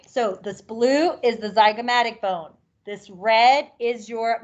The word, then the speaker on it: zygomatic: Zygomatic bone.